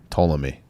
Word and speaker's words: Ptolemy: So like, Is that how you pronounce it? I always thought it was a silent P. Ptolemy.